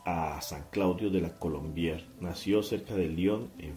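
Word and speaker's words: Colombière: Colombier. Colombier, así uh-huh.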